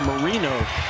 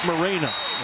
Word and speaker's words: Marino: Marino started the year, his last name was Moreno. Yeah. And his mom called in to a postgame radio show and said, "Hey, I just got to correct everybody. It's Marino, not Mareno."